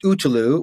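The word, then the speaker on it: Ötillö: is a race called Otillo. And it's actually pronounced Utulu, which stands for island to island.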